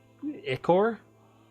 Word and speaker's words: ichor: want to pronounce this icor i believe it's echo right like petrichor petrichor pet icker poured